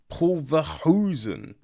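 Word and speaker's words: Paul Verhoeven: a big fan of um like Paul Paul Paul vosen yes that's how you say it Paul vosen's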